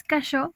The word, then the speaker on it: Cacheux: Sí, bueno, la pronunciación es cachot porque es francés, pero pues francés. normalmente le digo cacheux.